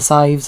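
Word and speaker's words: Sadhbh: Well, that's like all the like so like the maves and the sives of the world cuz the BH gives it that like the sound.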